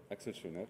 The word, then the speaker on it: Axel Schönert: avec Axel Schönert, je prononce bien? Axel Schönert.